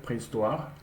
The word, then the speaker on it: préhistoire: Depuis la préhistoire, histoire, not history, like prehistoire. So whenever you see in French this collection of letters, it should be pronounced like wa.